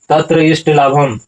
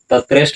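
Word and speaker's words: तत्र इष्टलाभं: ततो अलस पुरुष नाम बिल्कुल शुद्ध उच्चारण के लिए तत्र इष्ट लाभम तत्रष्ट नहीं उदाहरण क्या होगा तत्र इष्ट लाभ श्रुत्वा अब यहां होगा बहव बहवस्त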